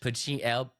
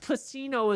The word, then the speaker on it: Pacino: There's no H. Pacino.